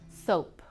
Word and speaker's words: soap: But no, in English, usually OA is pronounced O. Just O, not OA, O. For example, soap.